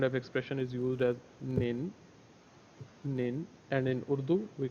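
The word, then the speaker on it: 您: the same kind of expression is used as nin nin and in Urdu we call it up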